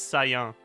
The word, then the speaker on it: saillant: There's a word in French that means the same thing, and it's the same word, but it's pronounced weird, comparatively. It's saillant. Okay, yeah, that makes sense, actually.